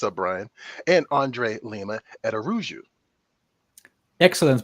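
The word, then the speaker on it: Araújo: hi hey what's up Brian and Andre Lima at aruu excellent pronunciation of my last name who taught you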